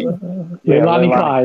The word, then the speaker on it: Leilani Kai: Leilani Kai? Leilani Kai, yeah.